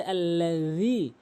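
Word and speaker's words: الذي: এখানে সঠিক উচ্চারণ হচ্ছে আল্লাযী, আল্লাযী, এভাবে 3 আলিফ টেনে উচ্চারণ করতে হবে।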